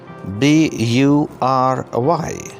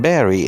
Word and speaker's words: bury: B-U-R-Y. This word is pronounced bury and not bury.